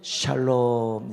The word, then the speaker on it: 샬롬: 샬롬. 네. 이게 센 발음으로 하면 안 되고 그냥 아주 부드럽게 한번 다시 한번 해봅시다.